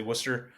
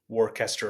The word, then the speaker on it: Worcester: Actually, Worcester, which most people don't know how to pronounce, and they say Warester or Warchester, like Warchester Sire.